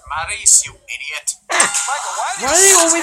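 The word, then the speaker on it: Maryse: Maurice, it's pronounced Maurice, you idiot.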